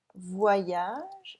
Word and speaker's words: voyage: So, voyage, it is voix, plus yage. And every time you have an Y, you have to put two I's instead in order to pronounce them properly.